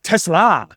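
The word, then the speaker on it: TeSlaa: Tesla. Yeah, you're putting the emphasis on the wrong syllable.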